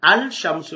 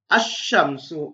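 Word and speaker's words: الشمس: இந்த சம்சுன் என்ற சொல் சூரியன், இந்த கலிப்லாத்தை சேர்த்தால் அல் ஷம்சு, ஆனால் அல் ஷம்சு என்று நாங்கள் உச்சரிப்பதில்லை, மாற்றமாக அஷ்ஷம்சு என்றுதான் நாங்கள் உச்சரிக்கணும்.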